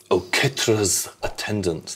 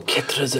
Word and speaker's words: Oketra's Attendant: And play Oketra's Attendant. That's exactly how you pronounce it as well. Oketra's Attendant.